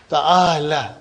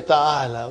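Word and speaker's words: تعال: Ta'ala. But you will never say ta'ala. You will always say ta'al. What will you say? You know, when you are pronouncing, you will give a sukun.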